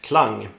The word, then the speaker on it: Klang: model which is pronounced clang since the brand is from Sweden the model name itself is the Swedish word for sound aesthetic or the sound